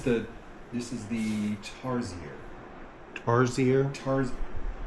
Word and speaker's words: tarsier: Tarsier. Tar. Tarsier.